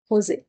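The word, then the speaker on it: Jose: তারপরে লরা শেরিডেন, তারপরে হচ্ছে মেগ, আর লাস্টে হচ্ছে তাদের ছোট মেয়ে হোজে, হোজে শেরিডান। এখানে জের উচ্চারণ হচ্ছে না, তাই জন্য হোজে শেরিডান বলছি।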